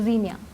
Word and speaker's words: Zinnia: Is it the correct pronunciation? So Zinnia.